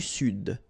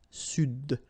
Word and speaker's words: Sud: L'Amérique du Sud, here you should pronounce the D, sud, sud, okay?